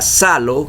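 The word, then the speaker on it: ψάλλω: área dicen que e aparece una palabra griega que se pronuncia salo que significa usar instrumentos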